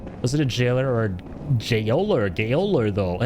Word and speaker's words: gaoler: that Jailer is it so it actually is pronounced Jailer am I am I